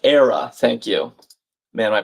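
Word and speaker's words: Éire: It's pronounced era.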